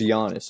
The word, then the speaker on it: Giannis: playmaker so you got Giannis or however you say his name I it's gianis just Giannis okay got he's a